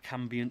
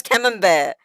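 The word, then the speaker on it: Camembert: it's chicken cave and cambian cheese cambian cheese bro you live in Britain how do you not know how to pronounce cam bear you come you come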